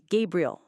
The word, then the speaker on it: Gabriel: He told me his name, Gabriel, soft on the second syllable.